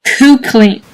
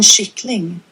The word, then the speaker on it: kyckling: If you're a native English speaker and don't know any Swedish, how do you think this would be pronounced? Right. Kukling. Kukling. Right? Wrong. En kyckling. Yeah, see, buddy, but the thing is, where's there an SH in there? K-U-C-K. Ling. And kukling. Yeah, no, there's no SH in there.